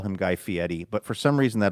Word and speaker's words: Fieri: pronounce people's names the way that they are pronounced. So we'll call him Guy Fiieti, but for some reason that always I always struggle with that. Maybe just because I always thought his name was Guy Fieri.